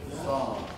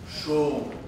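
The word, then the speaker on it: sawm: So the pronunciation is today song. Song. And what they were pronouncing? Shom. Shom. As I told you, Sa and Sha. What they have written as Sha, it is pronounced as Sa today.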